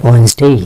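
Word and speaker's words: Wednesday: আপনারা জানেন এর উচ্চারণ ওয়েডনেসডে না, এর উচ্চারণ হচ্ছে ওয়েডনেসডে।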